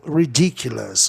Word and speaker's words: ridiculous: Ridicule, ridiculous. Olha o S novamente funcionando, tornando a palavra proparoxítona.